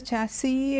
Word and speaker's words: chassis: debris the others chassis the thing is the s is not pronounced in both these words okay now what does a chassis in case you are